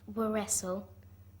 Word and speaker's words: wrestle: gnome gome g n o m e wrestle were wrestle w r e s t l e renen